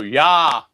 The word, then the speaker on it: ja: in or ha not how do you pronounce that in German J eh oh oh yah yah in other words it's